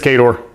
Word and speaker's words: Khador: Be interesting to go through here and see what some of the it is Khador.